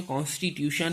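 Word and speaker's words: constitution: पढ़ते हैं तो ये कॉन्स्टिट्यूशन है। ये कॉन्स्टिट्यूशन, TIUN को सन बोलते हैं, TIUN को सन से उच्चारण किया जाता है।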